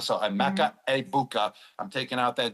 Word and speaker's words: Egbuka: I'm gonna go with I've been saying Egg Bua the whole time I was on Fox for the first two weeks, but now everyone told me the G is silent. So, a Mecha Abukah.